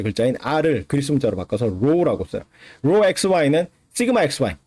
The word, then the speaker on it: rho: 그래서 이거를 그 구자 거꾸로 써놓은 것처럼 생긴 이거를 rho라 그래요. rho. RHO. 영어 스펠링은 RHO야.